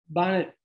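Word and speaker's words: Banat: just a note about pronunciation it's it's often pronounced in the united states bonnet swabian but after talking to people from the planet i have learned to retool my pronunciation to ban it swabian because this is what's generally said in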